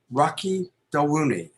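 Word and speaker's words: Rocky Dawuni: go to his primary website it's his name rocky del rooney i hope i'm pronouncing that correctly yes yes yes so it's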